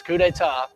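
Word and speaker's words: coup d'état: 1799 leads a coupet if you ever see that word that's what that means that's how you pronounce this couet or a sudden overthrow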